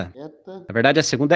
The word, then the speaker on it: eta: Aí o eta e o ômega não se pronunciam com acento agudo, tá? Então você vai pronunciar ele fechado, como se tivesse um acento circunflexo.